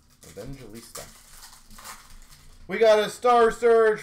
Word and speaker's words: Evangelista: box for the wild Evan gesta I keep feel like I say that name wrong for the pr is that right Evista Evangelista I keep saying it wrong Evangelista we got a star